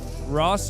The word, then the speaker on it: Raas: Nobody knows how to pronounce the Isn't Raas like Ross or something?